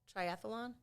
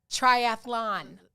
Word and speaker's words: triathlon: do you say that triathlon triathlon there's no thalan at the end but we all say